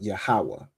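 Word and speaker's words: Yahawah: So the letters are yah, ha, wah, and ha, but you pronounce it as yahwa, right? Yahawa.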